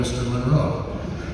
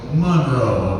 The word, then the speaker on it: Monroe: he personally corrected me once with how to pronounce his name when I called him Mr Monroe so Monroe apparently is how you say it and um